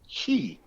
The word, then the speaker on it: Qi: he talks about um it's spelled Qi and it's called Chi and Chi is love